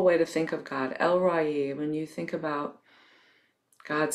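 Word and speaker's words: El Roi: as el ragi as spelled r o i but it's pronounced el ra e the god who sees me it's a wonderful way to think of god elroy when you think about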